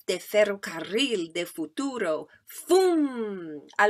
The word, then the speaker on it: ferrocarril: I like saying ferrocarril. In fact, that's double R is also another sound that's very specific to Spanish. Ferrocarril. That's a good sound to be able to roll your R's.